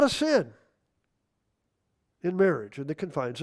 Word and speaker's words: Samhain: I've heard people say, "What in the Sam Hayne are you doing?" Well, that's not the proper pronunciation.